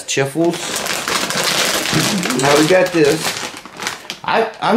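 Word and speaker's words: Chifles: It's from Schiffels, I think that's how you pronounce it, Schiffels? Schiffels. Let's see. It's four crunch above the rest. But, yeah, it's C-H-I-F-L-E-S. Chiffles.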